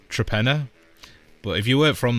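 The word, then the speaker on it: Torpenhow: So the place is to penha which apparently in three languages is hill hill. And then there's a hill in there. So that's the fourth hill, but it's actually pronounced Trapenna.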